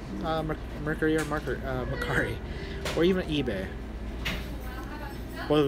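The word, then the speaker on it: Mercari: Uh, I use Mccari or Mercury. people pronounce it, you know, two different ways, but it's M E R C A R I.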